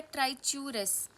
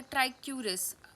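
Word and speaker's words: Trichuris: फिर है ट्राइच्यूरस या ट्राइक्यूरस, मैंने दोनों प्रोनाउंसिएशन बता दी, जो आपको ठीक लगे आप यूज़ कर सकते हो।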